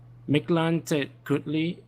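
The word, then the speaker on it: Mictlantecuhtli: Oh, sorry, I need to pronounce this correctly. Mictlantecutli is following her by her side and feels like she sees him at times.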